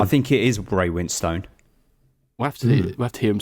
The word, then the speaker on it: Winstone: I say Ray Winston. Ray Winston, isn't it? So it's not Winstone, even though it's got the E at the end. Don't know. Winston. I think it is Ray Winstone.